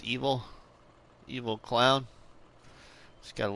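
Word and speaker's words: Ebil: of evil clown uh it's actually spelled e-b-i-l but it's pronounced evil evil clown he's got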